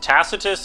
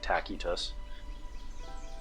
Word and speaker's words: Tacitus: Tacitus is the like medieval Latin pronunciation, but he would have pronounced his name more like Tacitus. Classical Latin.